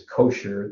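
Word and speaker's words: cosh: and this is like if you say a hot dog is kosher this is pronounced kosh just like that and this comes up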